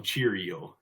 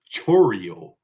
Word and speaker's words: Chourio: Okay, so our next one, I like to call him Chourio, but that's not how you pronounce it. It's Chourio. So it's Jackson Chourio.